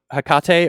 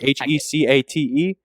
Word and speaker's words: Hecate: Ring of Hecate or Hecate, however you want to pronounce that.